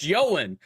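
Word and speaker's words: Ioan: Like, hey, he's Welsh. I've seen the behind the scenes of Hornblower where other people talk to him. It's pronounced Yoan.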